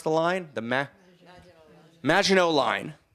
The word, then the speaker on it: Maginot Line: the German, right, on that, how do you pronounce the line? The Maginot Line.